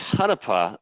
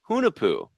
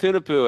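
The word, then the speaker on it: Hunahpu: I always thought it was Hanapa, and then I talked to Neil at Florida Craft Beer Day a couple weeks back, and he pronounced it Hunapu. So I'm going with Hunapu, and I've been trying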